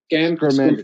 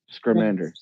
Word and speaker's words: Scamander: Scamander. There you go. Scamander.